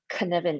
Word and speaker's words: Cynefin: The other one that I always use is the Cynefin framework, and that's spelled as Cynefin. Cynefin. It's actually a Welsh word because it was invented